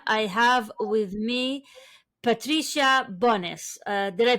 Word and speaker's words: Bonis: I have with me Patricia Bonis. Uh did I pronounce this right? Bonis.